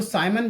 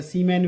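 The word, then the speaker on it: Siemens: एक इसका अन्य मात्रक भी है, इसको साइमन भी कहते हैं या सीमैन भी कह देते हैं। साइमन अंग्रेजी शब्द है, कैसे भी उच्चारण कर लो, साइमन।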